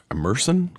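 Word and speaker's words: Emerson: rate at 60% threshold to pass immerson immersion immerson College I think it's pronounced polling puts the measure on edge with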